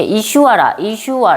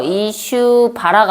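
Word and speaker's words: ईश्वर: 그래서 23절, 29절은 이게 이슈와라, 이게 비읍인데 비읍은 이게 묵음돼서 이슈바라가 아니라 이슈와라라고 이슈와라에 대해서도 앞에서 살짝 설명하고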